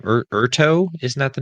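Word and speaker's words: Urteau: city the city's name erto isn't that the name of the city yeah orto that they they pronounce it with more of an O than a u in the in the book so orto so in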